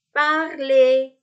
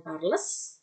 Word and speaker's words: parler: Contoh kata lain, parler, speak, ya, ngomong. Parler, bukan parles, ya, tapi parler.